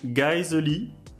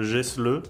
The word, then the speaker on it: Geissele: Alors je crois que ça se prononce Geissele, voilà, moi je le prononçais à l'époque Gessle, c'est vrai que ça rend moins.